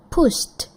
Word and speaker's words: pushed: Pushed. Pushed with the sound. Oke. Kenapa? Karena push itu unvoice, tidak ada getaran di tenggorokan.